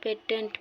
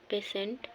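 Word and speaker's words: patient: ढेर जना पेटेंट पढ़ना, पेटेंट नहीं, अगर सही उच्चारण हो पेशेंट रोगी।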